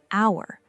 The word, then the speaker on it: hour: On the other hand, an hour, an F student, an 8-year-old child. Hour begins with a vowel sound because the H is silent.